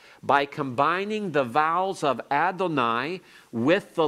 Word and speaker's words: Adonai: under the wow and that's a signal to pronounce it rather as Adonai and today modern Jews